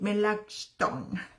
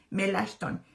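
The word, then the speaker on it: Melanchthon: Así que en representación suya pues fue su buen amigo Philip Melon, perdón la pronunciación, Melashton, quien presentó ante la dieta de los Burgos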